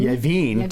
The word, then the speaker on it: Yavin: So I have a soft spot for Tatooine, but I think Yavin, Yavin. to make it rhyme with Tatooine.